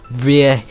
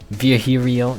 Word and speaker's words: Villio: You look winded, Villio. It's pronounced Vio. Vhio.